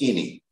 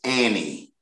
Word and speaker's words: any: And I pronounced it as any. But the correct pronunciation for A-N-Y is Annie.